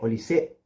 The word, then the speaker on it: Olise: Y ahora, yendo con los extremos, obviamente que hay que hablar de Olise u Olis, como prefieran pronunciarlo, pero la rompió el francés para el Bayern Múnich.